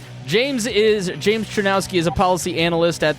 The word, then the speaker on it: Czerniawski: I am very excited to talk today to James Trinowski who gave me a pronunciation guide before.